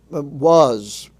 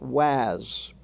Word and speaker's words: was: Was is pronounced was, not was. There is no word in English pronounced was.